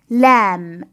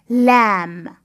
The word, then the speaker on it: lamb: lemon lemon lamb lamb little b is silent so we pronounce the word without little b so it's lamb lamb lesson three how to